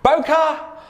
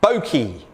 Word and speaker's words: bokeh: do i say it the word is a japanese word literally meaning blur and it's pronounced bokeh or boki boker refers to the